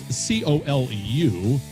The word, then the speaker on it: Colu: And it's Colu. That's Coleu.